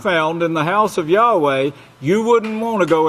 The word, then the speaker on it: Yahweh: It's pronounced Yahweh in English. It's pronounced Yahweh in Hebrew.